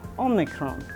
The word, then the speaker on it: Omicron: And yes, like the other variants, this one is named after the Greek alphabet letter Omicron. Yes, this is the real pronunciation, which I learned from a person of Greek descent.